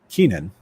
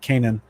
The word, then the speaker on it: Kenan: His name is Kenan. I guess you want to say it like that. Canaan. Depends on how you want to say it, translated from the Greek.